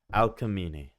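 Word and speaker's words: Alcmene: Al Alini Al Al so it's like Alchemy Alini all right got it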